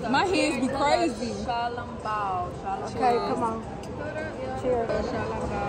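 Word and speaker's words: xiaolongbao: How do you properly pronounce this right here? Oh, that's shalom bounce, right? Shalom bounce. Shalom bao.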